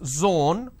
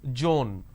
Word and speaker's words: zone: as well for example it's zone instead of saying zone they pronounce this as joan these are the mispronunciation